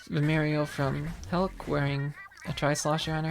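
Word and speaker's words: Helck: left side and then it's the mario from hulk wearing a tri-slosher on her head hulk is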